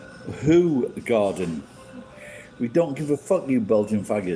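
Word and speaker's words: Hoegaarden: go by the way whole garden is pronounced who garden we don't give a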